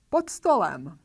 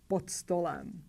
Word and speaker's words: pod stolem: D is voiced, therefore we have to pronounce its voiceless pair T, pod stolem.